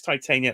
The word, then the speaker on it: Titania: Get your pronunciations. Titania.